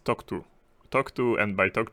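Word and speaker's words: TOCTOU: to time of use it's totoe that's how you how you write it how you pronounce it uh time of check to time of use I'm going to just say talk to today so yeah so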